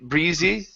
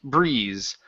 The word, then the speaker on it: breeze: Okay, so these e at the end, we do not pronounce them. So instead of lake breezy, it's lake breeze.